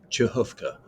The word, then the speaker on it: Przechówko: much sense it's pronounced chovka the RZ gets an gives an S sound the CH gives a KH sound from the back of the throat the o w with